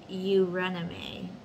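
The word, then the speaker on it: Eurynome: in the ecstasy the intensity of ecstasy it's pronounced you rename or wide wandering is the palesian or pre-hellenic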